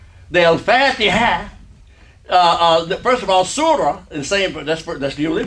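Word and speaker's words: سورة: When it's at the end of the word and nothing else is coming after it, you don't pronounce it as ta, you pronounce it as ha.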